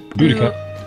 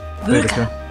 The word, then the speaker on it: Boudica: Boudica. Boudica. Yes. She's awesome. Bless you. Boudica? Boudica. Okay. Boudica. Well, it depends on your school of learning, but the popular thought is Boudica.